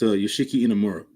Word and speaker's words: Yoshiki Inamura: It's Yoshiki Inamura.